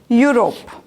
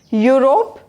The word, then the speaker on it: Europe: also starting with u so both are vowel letters but what about their sound they sound as consonant sound europe is pronounced year and